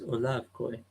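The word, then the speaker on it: Olav Kooij: with 15 kilometers away I did say Oliver Queen before it's Olaf koi at least this second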